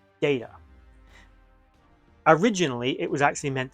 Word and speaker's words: Data: Also, the name Data. Originally, it was actually meant to be pronounced in the American tongue of Data.